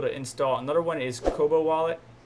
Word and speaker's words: Kobo: Another one is Kobo Wallet. I used to call it Kobe Wallet, but it's a Kobo Wallet, which is available for Android and iOS devices.